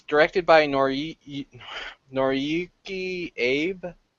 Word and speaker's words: Abe: It's directed by Noriyuki Abe. I'm not sure if I'm pronouncing that right or not. Abe, right, correct.